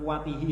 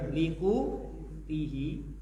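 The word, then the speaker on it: لقوته: Sumber pendapatan yakfi, yang bisa mencukupi likutihi, itu bacanya bukan kuatihi ya, likutihi, untuk kebutuhan pokoknya, wa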